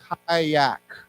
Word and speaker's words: kayak: of the water anyhow the pronunciation of this word is kayak okay so it's a i sound kayak kayak okay just